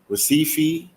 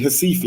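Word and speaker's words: Recife: went to receive it receive fee I mean hasifi I gotta say it because the r is not pronounced in in Portuguese in Brazil I went to a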